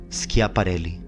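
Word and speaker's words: Schiaparelli: must have been getting ready by the way is spelled as this s c h i b a r e l l i scia parelli during the opposition of 1894 a green great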